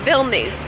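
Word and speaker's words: Vilnius: it and I said how do you pronounce me with this city and she let me know it's bill nice that I was completely pronouncing it wrong so bill news is a beautiful city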